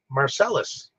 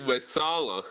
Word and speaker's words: Messala: Marcellus. Don't you know the Roman dude? Oh, you mean Messala? Yeah, that's how you say it. Marcellus. Marcella. Okay, in my subtitles it said Messala, not Marcellus.